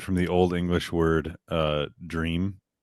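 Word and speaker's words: drēam: So it did originate from the Old English word dream. How do you pronounce the line above the E? It would be a long E.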